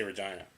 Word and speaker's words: Regina: I want to say Regina, the city that rhymes with fun.